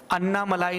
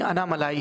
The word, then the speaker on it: अन्नामलाई: बताऊंगा कि यह चीज इस शब्द का उच्चारण अन्नामलाई नहीं आना मलाई है में कितने फक्र